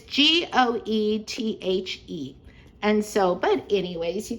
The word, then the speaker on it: Goethe: Is it pronounced goat? It's Goethe.